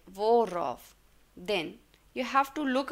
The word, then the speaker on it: worauf: Formula is, whenever you are using a R between, like worauf, then you have to look out for the preposition first.